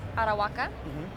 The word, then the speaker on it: Arahuaca: Here now with Todd Wright of Falto Cigars, smoking the new Arahuaca.